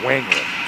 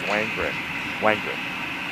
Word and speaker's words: Wangren: Wangren, 2 syllables, Wangren.